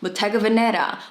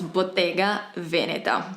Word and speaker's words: Bottega Veneta: really reinvent themselves and I've been hearing Bottega Veneta butaga Veneta motega Venera and I want to scream because it's Bottega Veneta the brand was established